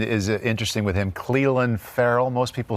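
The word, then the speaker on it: Ferrell: account and pronunciation is interesting with him clelan farrell most people say thank you help me i called you cotton ball though and the the tiger sid came in and said it's furl right they said everybody in the world is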